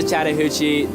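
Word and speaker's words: Chattahoochee: This is the Chattahuchi. The way that you can kind of pronounce is like chatta and then hoochi. A lot of people abbreviate to the hooch.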